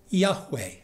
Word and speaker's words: Yahweh: it gets tricky because the word that god speaks is notoriously difficult to either pronounce or translate if we are transliterating the hebrew we usually say yahweh if we're translating it